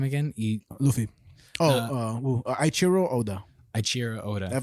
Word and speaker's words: Eiichiro Oda: Eiichiro Oda. Eiichiro Oda. I'm saying it right, but the way it's spelled is EIICHIRO space Oda. ODA.